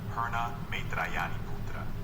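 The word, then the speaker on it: Pūrṇa Maitrāyaṇīputra: At that time, the Buddha said to the monks, do you see this Purna Maritayana Putra?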